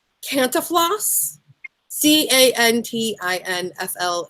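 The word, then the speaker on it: Cantinflas: beat out by I'm gonna say it wrong canta floss CA NT INF la s he played and equally hard to pronounce Thames passaport in around the world in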